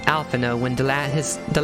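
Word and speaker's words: Alphinaud: rather challenging it's weird that his name is pronounced alphano when the lad his the last letter and his name is d i used to put out i used to pronounce his name alpha node ethanol but then i heard his name properly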